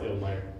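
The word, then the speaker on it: Ilmire: I call it the Illmire, which is a very silly name, because I just combine ill and mire. I know it's Illmire, but I spell it with only one L, so now it feels more like a true name.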